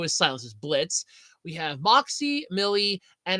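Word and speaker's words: Blitzø: morons we have H Blitz the O is silent or is Blitz o but the O is silence is Blitz we have Moxy Millie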